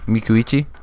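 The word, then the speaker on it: Micucci: I am the resident pronouncer. Oh, Mikuichi.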